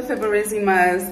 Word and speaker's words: Fiberesima: Welcome to the Fiberesima'S. That is how you say our last name, you guys. Fiberesima.